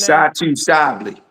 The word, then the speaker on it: Satou Sabally: Satu Sapato. Is that how you pronounce her name? Satu Sabi.